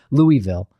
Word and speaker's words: Louisville: get used to but the difference between Louisville and Louisville Louisville it's it's it's minor yeah you have to say swallow your l i see I've never